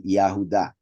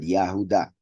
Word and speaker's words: Yahuda: Genesis 38 remember that this would be pronounced really yahuda not yet but yahuda right so we here